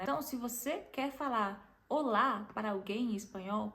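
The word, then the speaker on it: hola: favor não fala rola não fala rola porque a letra g não tem som e eu tô falando isso porque eu já vi várias pessoas falando assim especialmente no Brasil nas aulas de Espanhol tinha gente que falava rola porque tem um h ali no começo mas o h vocês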